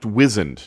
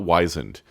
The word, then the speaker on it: wizen: like sorry Joe but I believe that word is pronounced wizen not wisen can we take it